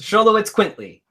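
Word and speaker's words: Xoloitzcuintle: that and so I'm going to try this sholo it's quinty quintly sholo it's quintly sholo you how to pronounce that yes scholo it's quinty so it's yeah that's there it is scholo it's quintly mexic hairless dog so just call it sholo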